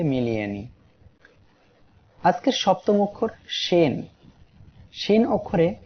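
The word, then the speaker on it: شين: আজকের সপ্তম অক্ষর শিন। শিন অক্ষরে 3 আলিফ টান হবে। সবাই আমার সাথে উচ্চারণ করেন, শিন। আবার উচ্চারণ করি, শিন। শিন অক্ষরটি জিহ্বার মধ্যখান তার বরাবর উপরে তালুর সঙ্গে লাগিয়ে উচ্চারিত হয়, শিন।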